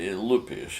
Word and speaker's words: Lupish: My name is Vitaly Lupish, and it's spelled Lupish, and the first name is Vitaly.